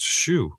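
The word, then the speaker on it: Hsu: IMDb has a pronunciation. Pronounced shoe. Shoe.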